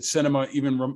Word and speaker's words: Sinema: I saw you retweeted somebody who said, it outrages me that Sinema even rhymes with cinema, right?